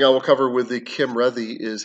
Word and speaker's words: Cymredd: forbid right uh and then a double d sound is like a soft th so red instead of ready it's ready so kim ready kim ready there we